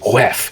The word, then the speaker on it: Wheffe: Like instead of going woof, it goes like Wef, Wef, and it's spelled WHEFFE.